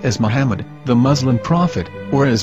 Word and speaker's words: Muhammad: Ben yehuda's Hebrew English dictionary it is correctly pronounced as Muhammad not mammad so how we're going to know for sure if it's pronounced as Muhammad the Muslim Prophet or as mammad a random